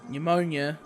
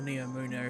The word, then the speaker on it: Neomuna: cyberpunk planet called Neptune, but also this is Pneumonia, or Neomuna if you want to be accurate.